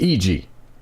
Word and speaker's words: Iji: plays eg or AG I don't know how to pronounce it it's iji I'm gonna go with eg like Ouija in any case I